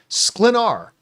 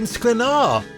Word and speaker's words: Sklenar: Sklenar. Yeah. Yeah. It's not hard. Brandon Sklenar.